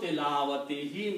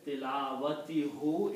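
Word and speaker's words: تلاوته: So haqqu tilawatihi means right of the recitation. Okay? Haqqu tilawatihi means the right of recitation. When people pronounce it this way, tilawatihu, it is not easy on the tongue.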